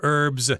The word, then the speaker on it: herb: Sage and thyme, they're all different kinds of herbs. I should mention, though, herb here is the American pronunciation. If you go to England, they're going to say herb more often than not.